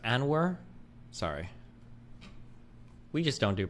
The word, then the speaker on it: Anwar: It's pronounced Anwar.